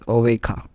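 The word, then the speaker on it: oveja: in Spanish okay so as we know that J is pronounced as k h according to the rules so it is written as a Vega but pronounced as oveika okay so that's it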